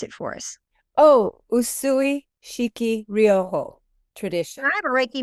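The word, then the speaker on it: Usui Shiki Ryoho: now in the USUI I can't pronounce it pronounce it for us oh usui shiki rioojo tradition I have a raiki masters and I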